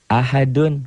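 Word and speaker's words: أحد: Ahad bacanya ada e-nya. Kayak bola yang mantul jatuh tidak langsung diam, mengeper, mengembal.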